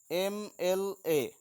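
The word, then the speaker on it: MLA: এ, এইখানে কি হচ্ছে, এম এর উচ্চারণ আমরা যখন করছি, উচ্চারণটা যখন আমরা করছি তখন প্রথমে কি আসছে, এম এ। তো যেহেতু প্রথমে এম উচ্চারণকালে এ আসছে, প্রথমে এ আসে, তাই তার আগে অ্যান বসেছে।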